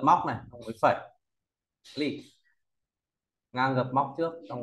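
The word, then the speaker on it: 力: Tiếp theo, bộ lực nói về sức lực ta đọc là gì? Lì, đọc mạnh thế nào?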